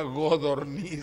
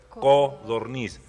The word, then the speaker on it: codorniz: Quisiera saber cómo se dice codorniz o hay una godorniz. Se dice de las dos formas, pero la que se apega más al origen de la palabra es codorniz.